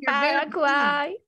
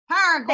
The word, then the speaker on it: Paraguay: Yeah, she'll help me on the pronunciation. Yes. Hello. Hey, there she is. She's platinum going. This is Paraguay. Paraguay.